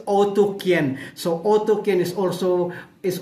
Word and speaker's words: Otyken: are they areen so how to how to pronounce it is otoken but but when you see the spelling is oten right so otin so if you're going to have to pronounce it with their language it's otoken so otoken is also is also a place